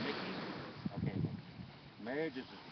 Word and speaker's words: Mickey: Now your name is pronounced Mickey.